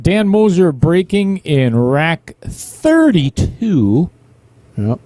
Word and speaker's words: Moser: lisp sometime soon no i said moses i said moser again go back and listen dan motion moser it just must be the crap in your mouth because obviously you can't say it correctly you thought you said it correctly you are way off all right i'm going